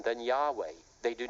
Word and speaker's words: Yahweh: And they state very plainly in there, number one, the name is pronounced Yahweh.